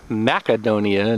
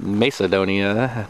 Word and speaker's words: Macedonia: another adventure awaits I reckon that's pronounced macadonia not Macedonia cuz the sea would be hard that's what the macedonians